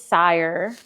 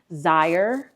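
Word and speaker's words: Xire: the new name is sire Now, the spelling of it is X I R E. So, depending on the region that you're from, you may pronounce it as Zire.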